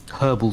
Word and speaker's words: herbal: any caffeine in it herbal tea pronounce the h mate we're in uh